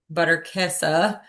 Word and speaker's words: Butterkäse: like more like the buttery base from the butterkäse.